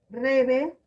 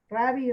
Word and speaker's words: Rabbi: Rabbi Yehuda Anasi, o más conocido como Rabbi, algunos lo pronuncian Rebe, otros lo pronuncian Rabbi, Rebe, bueno, algo así.